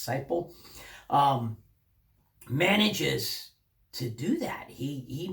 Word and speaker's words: Seiple: Well, the author, Seiple, I've mispronounced your name at least once there, and I apologize for that. I believe it's Seiple.